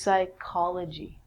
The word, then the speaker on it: psychology: of the mind and actually we say this like a K so this is psychology with the silent P